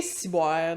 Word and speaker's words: ciboire: Bien entendu, on ne prononce pas ciboire. Le wa, le son wa en québécois a tendance à devenir ouais. Comme noir, il fait noir, il fait noir. Fait qu'on dit ciboire.